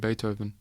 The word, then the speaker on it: Beethoven: He mentioned Beethoven. She had read in the library about that musician. His name was pronounced with an A and spelled with a double E.